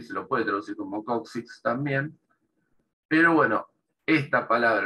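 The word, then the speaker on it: coccyx: nosotros Incluso en español ellos eso es la pronuncia coxis con esa x al final nosotros la x o sea el hueso es coxis hueso coxal coxis la x está al principio y al final es la s ellos para ellos la pronunciación es la k y la x la k en el medio y la x al final coxis sí la forma media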